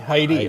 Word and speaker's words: Hyde: Now, you've coached 16 All-Americans, from Dave Hyde, I think that's the correct pronunciation. Heidi, okay, to Tim Lowry.